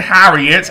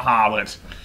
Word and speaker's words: Harriet: Topper and Harriet, and yes, it is Harriet, not Harlot, for the second time. So, yeah, not Harlot at all, it is Harriet. I got it wrong twice, so my original pronunciation was correct.